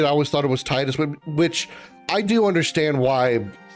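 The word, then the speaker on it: Tidus: I guess officially quote unquote it would be Tetus because any other any uh spelling of Ti do your best is always pronounced Tina Tifa.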